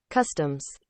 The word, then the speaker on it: customs: to the pronunciation. I will show you. So this is customs. Customs.